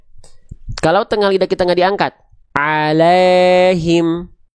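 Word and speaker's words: عليهم: tengah lidah kita diangkat alaihim alaihim kalau diangkat alaihim alai Lai bukan lae lae Ah kurang naik Berarti tuh alaiim itulah makhraj huruf ya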